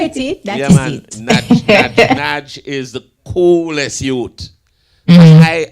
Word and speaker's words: Nadg: But look at me, not so bright, How you pronounce him name? Nadg. Yes, you get it. That is man. It. Nadg is the coolest youth.